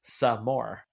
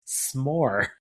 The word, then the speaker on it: s'more: And she's like, "It's pronounced some more because you always want some more." And he's like, and Jeff's like, "No, it's just pronounced s'more." But it is s'more.